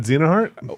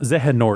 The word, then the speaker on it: Xehanort: Not Xenoheart. Whatever. Zehanort? Zehanort. Oh, Zehanort.